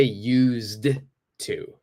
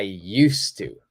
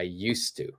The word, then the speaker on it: used to: silent I don't say used to so the D is silent don't say the D so I used to I used to all right so be